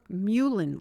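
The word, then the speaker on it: mullein: Sips of warm herbal tea throughout the day like licorice or ginger or muin leaf. This is spelled m u l l e i n.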